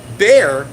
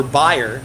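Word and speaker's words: Bayer: we don't talk about bear which is not or buyer is the way you say it right buyer is not a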